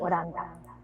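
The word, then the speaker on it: オランダ: but then they don't pronounce H, so it was Hollanda, so that became Holland or Mm. Oranda.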